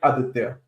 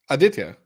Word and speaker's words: Aditya: I call it Aditya. Aditya.